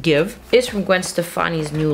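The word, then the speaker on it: GXVE: by Gwen Stefani so give spelled g x v e pronounced give is from Gwen Stefani's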